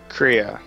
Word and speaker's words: Crea: Of course, I feel like a lot of the draw for the game is pronounced Crea or Crea? Crea.